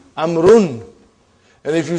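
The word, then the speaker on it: عمرو: Why do you have extra vav? It is not read. It is not pronounced. It is only written. Why? Just to differentiate between these two. Actually, it is Amrun.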